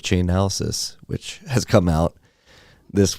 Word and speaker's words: Chainalysis: Chainalysis is, yeah.